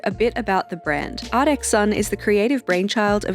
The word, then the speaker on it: ARTXSUN: But I found a real on Sunshine's Instagram where she pronounces it artexon.